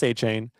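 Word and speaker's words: Etienne: Adding offensive pieces, they added Travis Achain. Did it right? Previously, Travis ETM, but Travis Achain, they went out and get Jordan Tyson in the first round.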